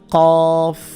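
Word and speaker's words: ق: এটার নাম হচ্ছে কফ, কফের উপরে দুই নোক্তা, কফ। জিব্বার গোড়া থেকে উচ্চারণ করতে হবে এটা। এটা হচ্ছে ক্যাফ, জিব্বার গোড়া যেখান থেকে উচ্চারণ করছেন তার একটু সামনের দিকে আনলে যেটা হয় সেটা হচ্ছে ক্যাফ, ক্যা ক্যা, ক্যাফ। এটা কফ, এটা ক্যাফ। কফ এবং কাপের যে পার্থক্য, এটা আমাদের খেয়াল রাখতে হবে।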